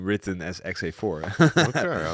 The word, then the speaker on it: XA4: It's actually like in the Netherlands, the number 4 is vier. And if you would say my name in a Dutch way, you say Xavier.